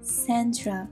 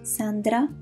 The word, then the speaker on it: Sandra: And by the way, I do pronounce my name as I would say it in Italian. In English, you would say Sandra, right? While Sandra would be the right pronunciation in Italian.